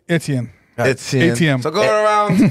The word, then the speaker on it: Etienne: It's Etienne.